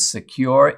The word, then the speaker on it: Sekur: way well fortunately yes there is secure which is spelled s-e-k-u-r offers secure instant messaging and email hosted in Switzerland without